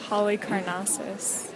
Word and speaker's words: Halicarnassus: So it's Mausoleum at Halicarnassus.